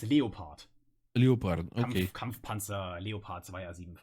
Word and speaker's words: Leopard: When I stream, I always call them Leopard. Leopard, yeah. I think just how is it in German? In German it's Leopard.